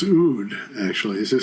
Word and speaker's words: oud: on guitar Mandola and out I think it's pronounced oud actually is it spelled o u d yeah yeah it's oud okay and then uh